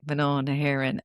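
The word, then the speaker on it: Mná na hÉireann: are English, and they're like, "How do you pronounce the name of Yeah, your I know. podcast?" And I'm like, "Manon Heron," and then they're like, "What does it mean?"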